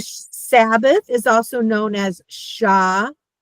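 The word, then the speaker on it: Shabbat: So do you see that's two syllables and we want to look at it. So now it makes sense. So when I said if you have two vowels you have to have two syllables.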